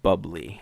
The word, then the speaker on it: Bublé: a duet between Michael Bublé and my girl Demi Lovato. Nice. It's pronounced bubbly.